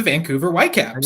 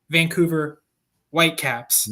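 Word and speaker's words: Vancouver Whitecaps: Hang on, hang on. You got to say it properly. You got to say it properly. Oh, sorry. Sorry, sorry. Supporters shield leading and very close to being conquer Champions Cup finalists, Vancouver White Caps.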